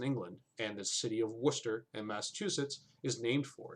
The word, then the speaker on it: Worcester: It's pronounced Worcester, Toad. Worcester is also a place. It's also a place in Massachusetts, but yeah, here it's called Worcester. Worcester. Like, you know, Worcestershire sauce.